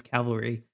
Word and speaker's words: cavalry: Like I I get pretty regularly lampooned for how I pronounce cavalry. Yeah. Sometimes I I switch up the the L and the V in there and oh man, I see it in the comments.